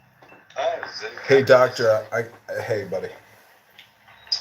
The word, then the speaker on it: Zen: Yeah, And so this is being pronounced Chan in Chinese Tom, and Zen in Japanese. Zen. Zen.